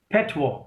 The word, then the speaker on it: patois: ठीक है, एक वर्ड और लिखिए आप, that is पैटवॉ, PATOIS, PATOIS, we pronounce it पैटवॉ। Okay, पटॉइस नहीं बोलना है इसको, वी प्रोनाउंस इट पैटवॉ।